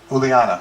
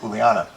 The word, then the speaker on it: Uliana: For whatever reason, and it was through the people I had met on my sacred journey, Lanuț and a woman named Uliana, that's how you say it, Uliana.